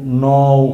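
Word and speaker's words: know: তো ক এন ওডবলিউ ন মানে কন কেন মানে এইভাবে নানা চিন্তা করব কিন্তু আসলে শব্দটা তা নয় এখানে শব্দের শুরুতে যদিও বর্ণ কে আছে কিন্তু কে এর কোন উচ্চারণ হবে না।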